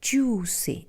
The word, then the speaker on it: juicy: difficult word is juicy juicy is just a long ooh we don't pronounce the